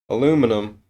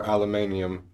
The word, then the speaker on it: aluminum: quartz crystals copper wire aluminum or aluminum for people who pronounce it that way shavings in epoxy resin